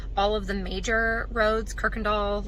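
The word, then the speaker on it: Kuykendahl: easy access to Kirkendall it's the one that's spelled cooey Kendall it's pronounced Kirkendall so you'll have easy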